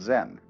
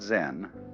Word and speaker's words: Zen: minute silence so then this word zen is Japanese way of pronouncing the Chinese word chan which in turn is